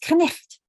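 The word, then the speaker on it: knight: When I look up night, K-N-I-G-H-T, and I see that it used to be pronounced knicht.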